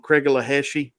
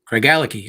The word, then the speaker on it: Craigellachie: me and you do is, and I may pronounce it wrong, Craigellachie 13. Craigellachie, I think. Craigellachie.